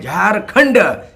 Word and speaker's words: झारखंड: तो ये जो झाड़ है शब्द, झो में आकार र और खंड जो है झारखंड, एक्चुअली वास्तविक अगर देखा जाएगा इसका उच्चारण, इसका प्रोनाउंसिएशन ये झाड़ नहीं है, ये झारखंड है।